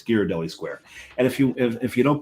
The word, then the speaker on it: Ghirardelli: It's Ghirardelli. Mm-hmm. There's a sign on the wall that tells you how to pronounce it, but also it's Italian. You put an H after a G, it's a hard G.